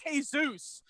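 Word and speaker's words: Jesús: and they're just draining him of his blood pronounced hey-zeus if they're I will never return they can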